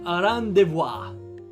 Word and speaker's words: rendezvous: It's pronounced rendezvous. Rendezvous. Okay, I think I got it kinda right. Without the re. Rendezvous. Okay. Rendezvous. Vu. Okay, no, never mind. It's vu. Rendezvous.